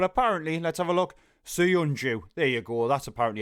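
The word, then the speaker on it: Söyüncü: Suyunju. There you go. That's apparently how you pronounce it.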